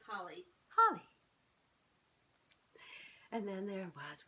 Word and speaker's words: Holi: How do you say that? Holi? Hola. Holi? I think it's just Holly.